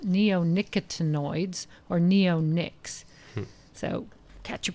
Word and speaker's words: neonicotinoids: And it's actually pronounced neonicotinoids or neonics.